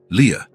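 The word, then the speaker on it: Lia: This is your name, he explained, pointing at each letter as he pronounced them. L I A. Leah.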